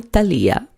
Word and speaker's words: Talia: of your name and I've heard it pronounced several different ways it's so beautiful both ways which way do you prefer thank you my mother calls me Talia okay that is my name okay what happened was